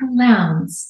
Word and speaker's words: Lowndes: Lowndes, I don't know, the D confuses people. But it rhymes with pounds, so Jessica Lowndes.